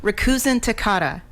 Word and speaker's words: Rikuzentakata: a good day yeah you've heard of Hakuna Matata from The Lion King yes very good Rikuzentakata yeah that's I credit